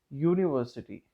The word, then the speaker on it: university: In terms of letter, U is vowel, but when you put it as when you put it into a word, sometimes U gives us a consonant sound. For example, university.